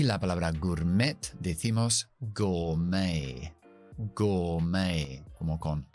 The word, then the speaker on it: gourmet: Gourmet. No pronunciamos la T.